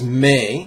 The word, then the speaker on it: me: 5th syllable is may, like mother may I.